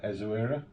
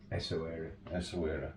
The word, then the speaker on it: Essaouira: like, and you're going to do the correct pronunciation, Essaouira. Essaouira, yeah.